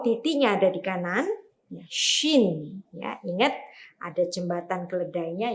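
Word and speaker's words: שׁ: Nah, Yang di kiri bacanya sin, ya. Yang di kanan bacanya shin, ya.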